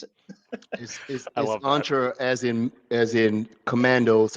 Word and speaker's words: Entra: Sentra and I go this is how you pronounce it entra as in as in Commandos and I have a picture of Predator with on SW and saying this entra yeah a good commercial yeah there you go